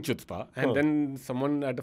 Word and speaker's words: chutzpah: The C is not pronounced. No, it would be a lot more fun pronunciation with the CH being pronounced, but it's chutzpah.